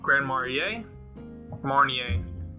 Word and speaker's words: Grand Marnier: Grand Marnier?